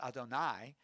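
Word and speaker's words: יהוה: the people of Israel, Yud He Vav He, or as we pronounce Adonai, the God of your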